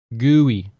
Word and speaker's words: GUI: GUI it's a you you say it like it's gooey at least that's what I've been taught in the programming um